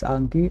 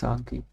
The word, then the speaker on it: Anki: And by the way, before we continue, it's not Anki, it's Anki. Anki is a Chinese or Japanese word for memorization. So it's actually pronounced as Anki, not Anki.